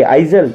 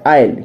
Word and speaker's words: isle: एक और वर्ड है आपके लिए ISLE, क्या पढ़ेंगे, आइजल, नहीं आयल, क्या पढ़ेंगे, आयल।